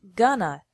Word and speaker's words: going to: an hour remember that in spoken English going to is often pronounced Gunna so these sentences would